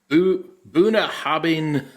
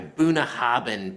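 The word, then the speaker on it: Bunnahabhain: Looks like, I believe this is the Buna Hobbing Feis Ile 2024. Oh my goodness. Well, let's actually get the pronunciation right. This is the Feis Ile by Bunahaben Pack.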